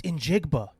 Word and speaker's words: Njigba: It's Injigba.